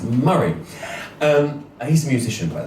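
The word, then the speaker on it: Moray: spelled m o r a why but it's pronounced maray um he's a musician by the way that's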